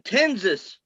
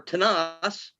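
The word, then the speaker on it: Tensas: tangapoa a-n-g-i-p a-h-o-a okay in tenses tenses parish or tanas or however you want to pronounce it t-e-n-s-a-s uh captain a.c watson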